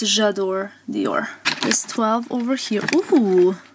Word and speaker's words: J'adore Dior: It's J'adore Dior.